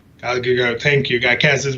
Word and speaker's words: Gal Gadot: When Galia Gadot got casted, I can never say her name, right? Gal Gadot, thank you.